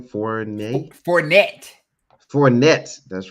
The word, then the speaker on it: Fournette: Fournette.